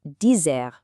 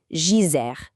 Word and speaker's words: dizer: And that brings us to dizer, which means to say. Notice that the phonetic spelling is a bit unique. It's actually not a hard D sound at all.